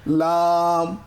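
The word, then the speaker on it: لام: মিলিয়ে লাম কেমন তাহলে এটার উচ্চারণটা কি লাম লাম এটা খুবই সহজ যার কারণে আমি মাখরাজ নিয়ে বাড়াবাড়ি করবো না তারপরে একটু বলে দিই জিহ্বার আগা সামনের উপরের দাঁতের গোড়া আবার বলছি জিহ্বার আগা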